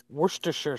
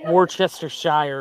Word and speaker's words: Worcestershire: faces you know so that sauce according to Cambridge dictionary is Worcestershire sauce and actually listening because this is they have the pronunciation recording this is in in British English that's kind of like you uh badger I was like I was expecting it to be like this like Worchester Shire or something and like sure